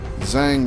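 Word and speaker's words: Zhang: blast pop is our lead heavy we got Jiang available Zang rather I should say it's not Jane the same age is silent it's a bad habit of mine um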